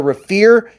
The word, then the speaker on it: Raffir: be a quicker video but these are the Rafer scales and it's spelled r a ffi r they they have